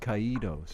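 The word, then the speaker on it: Caídos: now well kaido's your closer it would be pronounced ke DOS now you don't look I think those low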